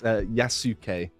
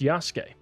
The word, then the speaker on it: Yasuke: if you couldn't tell it's yasuke yasuke I've heard it pronounced Yas really yeah maybe maybe I'm wrong who knows probably yeah it's it's common for them to drop the u sound in the Sue uh